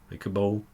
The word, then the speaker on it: Kabul: And pronounce it wrong, is it Cable or Kabul? Kabul.